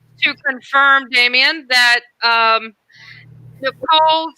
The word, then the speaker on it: Nichola: confirm damian that um nicole's name is pronounced nicole oh good to know yeah the a is silent and i think and